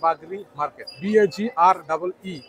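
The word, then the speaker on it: বাগড়ী: আসলে এই মার্কেটের নাম বাগরি মার্কেট, BAGREEMARKET, বাগরি মার্কেট লেখা আছে। এটা অনেকের উচ্চারণগতভাবে অনেকে ভুল উচ্চারণও করে থাকে।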